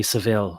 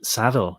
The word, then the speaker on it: Savile: partially based on um Jimmy Seville or for whatever reason it's pronounced um oh no Jimmy Savile in the united in the United States but saddle is how it was pronounced in the UK um so Google mcdo